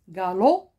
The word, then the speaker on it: galop: l'océan indien loup galopait galop écoutez bien je dis galop j'ai pas prononcé le pb c'est une lettre millette galop l'animal one par